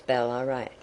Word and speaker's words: Ballarat: have forgotten namely that the original and Native name was balarat or bat which was the pronunciation then and for some years after but our English way is to be put the emphasis on the first part of a polyic word I have long remarked